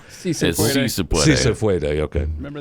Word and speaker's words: Si se puede: Say suefede. I don't know if that's pronounced. Yes, it's yes we can in Spanish. Si se puede.